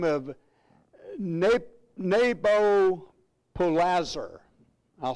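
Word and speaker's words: Nabopolassar: His father was a man by the name of Neb- Nebo- polassar. I'll spell that for you if you really want it.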